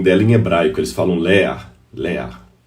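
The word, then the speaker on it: לאה: é interessante até que ao pronunciar o nome Léa em hebraico você faz com realmente um ar de infarto Léa porque essa forma final Ela é bem assim ler é um cultural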